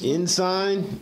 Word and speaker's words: Ensign: And Ensign is pronounced Ensign, just so as you know.